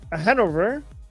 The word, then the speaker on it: Hanover: Um, Han Hanover, pronounc it right?